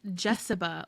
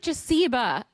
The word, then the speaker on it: Jessiba: And her name is Jessiba, like Jessica. But it looks like Jasiba. You know like what? amoeba.